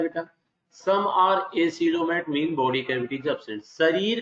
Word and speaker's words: acoelomate: Pronounce करना है एसिलोमेट, ACOELOMATE।